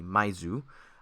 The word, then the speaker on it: My-th: First of all, I was wrong with the pronunciation of the name in Japanese. It's actually Maizu.